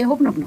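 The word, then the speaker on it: Hoʻoponopono: That's the spelling. So यू से हो ओपनोपनो।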